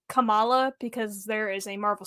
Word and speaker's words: Kamala: didn't hear it I it's kamla it's how you'd say her name I might acally say Kamala because there is a